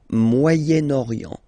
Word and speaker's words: Moyen-Orient: So it's interesting here because normally if you would have only this word here, you would pronounce it moyen, moyen. Okay, but then as you've got this vowel after, okay, you get to make the liaison between the two.